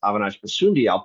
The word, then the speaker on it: Avinash Basundial: Avinash, I apologize, I mispronounced your name at the start. It's Avinash Basundial.